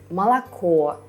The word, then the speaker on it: молоко: When we say молоко, вино, лицо, the last vowel is stressed, so we can hear that it's o, not a.